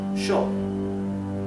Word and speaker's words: yo: Therefore, the pronoun I, yo, is pronounced sho in Argentina and in Uruguay.